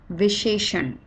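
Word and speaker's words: विशेषण: Okay, if you remember the alphabets and we talked about the consonants, that sh and sh, they both are written in different ways, but they are pronounced almost the same.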